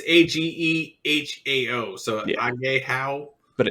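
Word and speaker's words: Ahegao: And then like seeing some more of the I don't know how you say it, a hagyo. It's Agehao, so Yeah.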